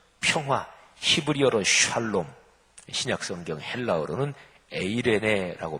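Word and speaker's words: εἰρήνη: 부활하신 주님께서 가장 먼저 전하신 소식은 평화, 히브리어로 샬롬, 신약성경 헬라어로는 에이레네라고 발음하는데 평화, 평안, 평강이었습니다.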